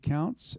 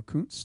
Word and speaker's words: Countz: Counts, or Kuntz, depending on how you say it. My wife says Counts, I say Kuntz, so my children are very confused.